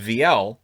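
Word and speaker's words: Viel: know i know v-i-e-l it's easy enough to call him veal but it's vl that's the way the san jose announcers say it i always go by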